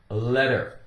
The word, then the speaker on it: letter: Now, we have the word letter. Letter. It's very common for a T in the center of a word or inside a word to be pronounced with more of a D sound.